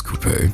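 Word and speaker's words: Coupé: black and I chose coupe from this patch. Well, let me actually say it right. It's coupe. But mostly everybody just calls her Coupe cuz they just can't get her name right.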